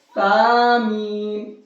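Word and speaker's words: ث: सा का सही प्रोनाउंसिएशन क्या है? वो ये है कि जबान की नोक को यहां पर टच करेंगे दांतों के किनारे से, यहां है, तो ये हमारा सा निकलेगा, तो ये सा पढ़ना है इसको।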